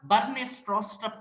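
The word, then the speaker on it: Bjarne Stroustrup: So pronunciation ಅಂತ ಬಂದಾಗ Bernie Stroustrup ಅಂತ ಹೇಳ್ತೀವಿ.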